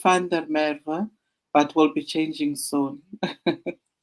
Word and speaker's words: Van der Merwe: It's pronounced Van der Merwe, but will be changing soon.